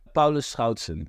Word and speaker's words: Paulus Schoutsen: last name appropriately just so the audience knows Paulo Schon is the correct pronunciation but here in the Americas that doesn't